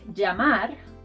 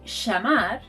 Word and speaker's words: llamar: To pronounce this sound, think of putting an I in front of the word, like llamar, llamar, to call. You should know, however, that in Argentina and Uruguay, this sound is pronounced sh. So they'll say llamar and llegar. It's like they're shushing you all the time.